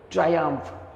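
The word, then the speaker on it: triumph: ট্রাম্প মানে জয়লাভ করা, উচ্চারণটা কিন্তু কি হবে, ট্রাম্পড হবে, অথবা ট্রায়াম্পড এটাও বলতে পারো। এটা অনেকে ট্রাম্প বলে, আর যদি তুমি মনে করো যে একেবারে সঠিক উচ্চারণ জানতে চাই, তাহলে এই সঠিক উচ্চারণটা হচ্ছে ট্রায়াম্ফ।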